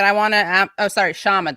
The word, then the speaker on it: Kshama: want to oh sorry shaman the k is silent shama i wanna is it no problem it's not actually silent but i but you know what even indians find it hard to say it so there you go